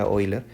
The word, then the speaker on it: Euler: Tenemos que el suizo matemático y físico Leonhard Euler, se pronuncia Euler, en el siglo XVIII, 1707, fue de la